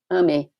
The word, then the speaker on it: AME: The Spiritist Medical Association, in Portuguese, is Associação Médico Espírita, and in Brazil, it's known by the acronym AME, pronounced AME, which means, in Portuguese, love.